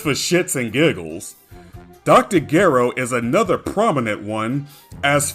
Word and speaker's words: Gero: In Japanese, G and J have their own separate sounds and will never sound like each other like how they do in English. His name uses ge-ro as opposed to je-ro.